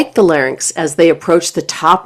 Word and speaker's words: larynx: The correct pronunciation is larynx, not larynx.